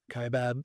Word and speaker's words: Kaibab: Kaibab.